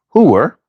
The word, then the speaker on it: Hoosier: Louis, Missouri, and parts of the surrounding region, Hoosier, often pronounced hooer, has a very different connotation.